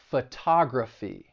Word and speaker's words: photography: Words that end in ty, cy, phy, gy, and al, the stress is going to be on the third to last syllable. So electricity, photography, biology.